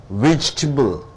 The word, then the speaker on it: vegetable: Now coming here, vegetable. Vegetable is a noun. You stress 3 syllables are there. You are stressing on the first syllable.